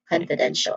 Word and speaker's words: confidential: also n a pronunciation wise we have con for syllable short o sound then f which has a short e sound then another short vowel sound but it's e and then shall again shall which has a schwa sound. So this is confidential where a then is the stressed syllable again confidential.